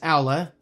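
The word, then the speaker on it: Aula: Yes, Owla. I'm no longer going to say Ola cuz I know Alla is the correct pronunciation.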